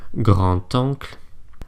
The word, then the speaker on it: grand-oncle: D is pronounced more like a T when it's liaised. So for example, quand est-ce que tu reviens? Quand est-ce que tu reviens? And grand-oncle.